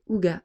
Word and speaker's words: hygge: Le terme Hitch, prononcé Uga, est un mot danois